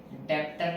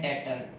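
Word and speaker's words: debtor: डेप्टर नहीं कहते, इसको कहते हैं डेटर, बीच में साइलेंट होता है, ठीक है ना।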